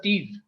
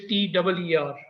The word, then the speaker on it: TIR: It's pronounced, the TIR word is pronounced as TIR. That is, if you write it in English, TEER.